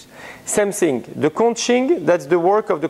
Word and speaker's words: conching: thing, the conching, that's the work of the conching that it is.